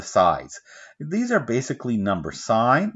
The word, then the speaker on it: sin: these are basically number sign this one's called sign of those it's spelled sin this one's called coast